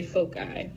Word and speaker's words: foci: there's two of them you would say foci that's how you pronounce it so the definition of